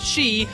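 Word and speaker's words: 四: out japanese gamers as the number 4 is pronounced she which is also the word for death in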